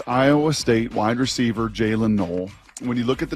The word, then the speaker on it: Noel: It is Iowa State wide receiver Jaylin Noel. When you look at the name, if you want to sound smart with your buddies, it looks like Noel. It's Noel. It's not Noel. It's pronounced Noel.